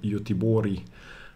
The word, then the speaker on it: Göteborg: In this game, he's playing Richard Reti in Gothenburg in 1920 in Sweden, or Göteborg, as they say in Sweden.